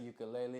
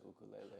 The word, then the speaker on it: ukulele: for those who get the American connotation of it is ukulele it's easy to say you know what I mean and that's that's like where people took it and ran with it people say it like that in movies and shows and TV and all that type of but the real Hawaiian uh structure of the word is ukulele okay now have you